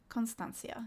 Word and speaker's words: constancia: Constancia. Yeah, okay. Constancia. Okay, there's no emphasis on the I.